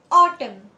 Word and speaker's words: autumn: The silent letter is N. N यहाँ पे silent है. So column. Autumn.